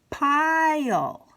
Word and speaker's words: pile: going to want to give the first vowel the long sound so it's gonna go uh-oh pile and here's the second foul just along for the ride saying nothing so there we have